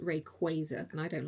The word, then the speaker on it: Rayquaza: So, I I say Rayquaza and a lot of the community do, but it's actually pronounced Rayquaza.